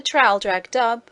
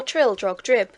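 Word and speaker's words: Traldragdubb: It contained a warrant for conducting me and my retinue to Traldrag Dub, or Trildrog Drib, for it is pronounced both ways as near as I can remember, by a party of 10 horse.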